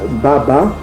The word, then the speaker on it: baba: L'ancien hébreu, le mot père se disait Baba, comme on prononce encore en Swahili.